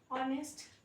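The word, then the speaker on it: honest: For example हमारा हो गया ऑनेस्ट, तो जो ऑनेस्ट वर्ड है उसमें एच जो है वो साइलेंट रहता है, एच जो है वो साइलेंट होता है।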